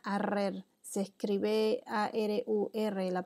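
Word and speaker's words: ארור: En la palabra maldita en hebreo se pronuncia arrer, se escribe A-R-U-R la pronunciación.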